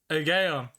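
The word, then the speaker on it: Aegaeon: Oh man, I was saying Aegeon. Not even close. It's pronounced Aegeon.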